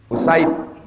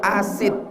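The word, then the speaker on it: أسيد: Jadi cara membacanya, kalau salah-salah dibaca orang asid, dari asid gitu. Salah, bukan asid. Usaid.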